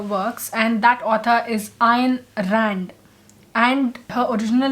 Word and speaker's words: Ayn Rand: But Ayn Rand, I did check up, and it is pronounced Ayn Rand. Like there was a double A, but there is no double A. So it's Ayn Rand.